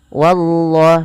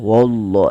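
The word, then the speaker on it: والله: Wallah sama kayak tadi ya teman-teman, tidak boleh wanya ditebalkan, tidak boleh wallah, tapi dia wallah, Allahnya saja yang tebal.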